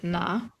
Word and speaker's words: nein: Yeah, you don't say nein. You say na.